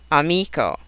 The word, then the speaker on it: amico: A three-syllable word on the second syllable, amico.